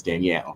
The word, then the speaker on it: Daniel: His name is it's spelled Daniel, but his name is Danielle.